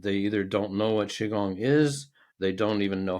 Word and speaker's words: Qigong: either don't know what Qigong is they don't even know how to pronounce it a lot of times um I've heard kigong quigong and all kinds of versions of that and it's like this